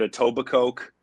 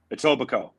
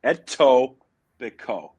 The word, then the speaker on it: Etobicoke: the time, but I want to play a pronunciation game because you got to help me out. I called it Atobba Coke. I've called it Eat A by Coke.